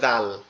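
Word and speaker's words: ذال: করি যে জাল, ওই জালের যেমন উচ্চারণ এটাও সেম উচ্চারণ। জাল, জাল, এটা উচ্চারণ হবে কোথার থেকে? আমাদের জিহ্বার আগা, সামনে দুই দাঁতের আগার সঙ্গে লাগবে, লেগে উচ্চারিত হবে জাল, জাল, জাল, এভাবে।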